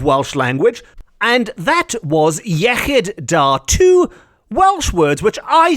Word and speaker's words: iechyd: In Welsh, the equivalent is iechyd, which is often pronounced iechyd by people who haven't got their tongues around the correct pronunciation of the Welsh alphabet.